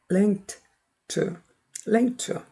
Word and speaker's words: linked: link가 무성음이니까 ed도 드가 아니라 철자에 속지 마세요. 무성음 t로 발음이 됩니다.